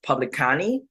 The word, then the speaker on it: publicani: itself is Latin um it's uh pronounced publicani public county public county right public in public county um and so they